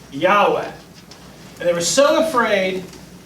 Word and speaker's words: Yahweh: when they came to the word Yahweh they put in the wrong balance on to protect you from accidentally saying and they've got they put in scholars when you figure this out about a hundred years ago and the wrong vowels they put in made it look like it was Jehovah but now they understand it's not Jehovah this yeah that may